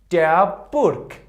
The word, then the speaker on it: Burg: If the letter G was at the end of the word, it pronounced like weak K. For example, der Burg.